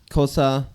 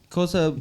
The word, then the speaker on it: Xhosa: honestly let's hold on let's rewind just a bit cosa sorry I said it wrong my bad cosa comes from where the